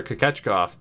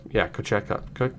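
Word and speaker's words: Kochetkov: I'm gonna trust Hunter Jones, and we might be able to pick up Pyotr Kochekov, who ended up being, Kochekov.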